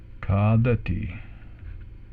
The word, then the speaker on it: khādati: And we have, last but not least, khādati.